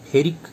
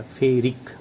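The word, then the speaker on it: ferric: Iron 2 वाले को फेरस कहेंगे, अस लास्ट में अस आ रहा है 2 वाला, और 3 वाला को फेरिक कहेंगे, लास्ट में इक आएगा, फेरिक।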